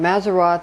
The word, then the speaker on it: Mazzaroth: And again, Mazzaroth is how you say as for zodiac.